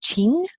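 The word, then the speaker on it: Qing: Emperor was this dynasty qu ing is pronounced Ching and there's the East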